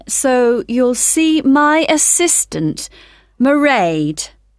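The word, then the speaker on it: Mairead: see my assistant merade sorry how do you spell that it's m a i r e a d marade okay got that it's not a name i'm familiar with oh it's an irish name she comes from dublin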